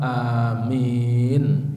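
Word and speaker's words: آمين: Kemudian termasuk perkara yang disunahkan untuk diucapkan adalah wa qaulu amin, mengucapkan lafal amin dengan memanjangkan a-nya dan juga memanjangkan min-nya. Baik keduanya dibaca dalam lafal yang sangat panjang atau lafal yang secukupnya.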